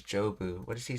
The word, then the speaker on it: 丈夫: Oh, it's pronouncing this as jobu.